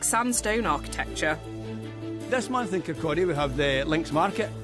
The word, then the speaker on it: Kirkcaldy: The spelling of Kirkcaldy, I have no idea why it has an L in it. My mother's English from Hull, and she still sometimes says Kirkcaldy, but it is pronounced Kirkcaldy.